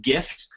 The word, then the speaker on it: GIF: gifts uh for creation gifts are super fun and Twitter supports gifts Facebook supports gifts uh if you pronounce them GIF you are wrong uh go home you're wrong they're pronounced GIF whatever anyway GIF is